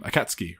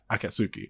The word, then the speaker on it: Akatsuki: A lot of people say akatsuki, but because it's an S and a K before and after the U, you can sort of shorten it in like everyday conversation.